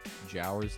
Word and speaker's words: Jowers: Jowers like Powers, but with a J.